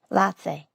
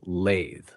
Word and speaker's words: latte: Latte. It sounds like you're saying lathe, which is different. The correct pronunciation is latte, not lathe.